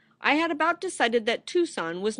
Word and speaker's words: Tucson: Tucson by the way it's pronounced Tucson not tuxen for several days longer